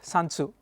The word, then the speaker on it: Sun Tzu: old old man ah by the name of sansu the correct chinese pronunciation pronunciation according to a chinese probably the greatest battle